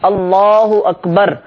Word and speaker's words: اللہ اکبر: کی طرف ہوں، اور صحیح تلفظ کے ساتھ اللہ اکبر، یہ صحیح تلفظ ہے.